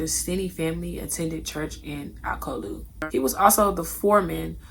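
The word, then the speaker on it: Alcolu: Two elderly women in Akolu, and it's so hard to pronounce this city name. Akolu. Girl, it's just Akolu.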